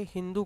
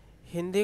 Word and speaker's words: हिंदू: ठीक है, और वे लोग सिंधु को सिंधु न कह के हिंदू कहते थे। क्या कहते थे? हिंदू कहते थे, क्योंकि उनका स का जो उच्चारण था वो ह की तरह निकलता था।